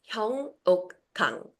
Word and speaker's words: Hyeungok Kang: My name is Hong Okang. It's very difficult to pronounce.